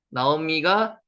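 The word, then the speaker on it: נעמי: 나오미가 기쁨이라는 뜻입니다. 나오미, 나오미 이렇게 읽습니다. 여기 오 발음이 나죠.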